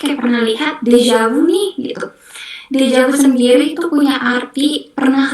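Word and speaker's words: déjà vu: Dejavu sendiri itu punya arti pernah lihat. Deja itu pernah eh Deja itu sudah. Vu itu lihat jadi sudah lihat. Jadi udah pernah lihat dejavu. Tapi cara prasnya kayak dejavu.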